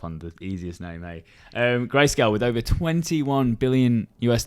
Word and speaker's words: Grayscale: investors in in in bitcoin a company called graysdel greyscale not company but like like a hedge fund would you like some help pronouncing that one yes please cameron grayscale thank you so much here we go talk